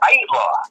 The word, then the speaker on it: Aittala: Did I say it right? It's Aittala. Aittala. Aittala. Two syllables.